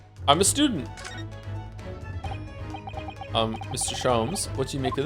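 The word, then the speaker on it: Sholmes: Shoms is pronounced the same as jams. Shoms. Herlock. Shoms.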